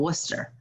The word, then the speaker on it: Worcester: that or it's like in boston they call it worcester there's like there's like six other syllables in that word it was a long